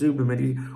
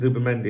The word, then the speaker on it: Zubimendi: You know, sometimes people say it's not Zubimendi, it's Zubel mendi. What you have to understand is there's different regional pronunciations, all right? Just like there is Bath and Bath back in England and like that. Around here, they they pronounce it Zubimendi, and I'm sticking with that, all right?